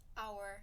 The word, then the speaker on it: hour: But how about you pronounce the word hour? Our. Hour is an hour, but the word is HOUR.